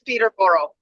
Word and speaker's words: Peterborough: It is Peterborough. Peterborough? Yeah. It sounds like I butchered it.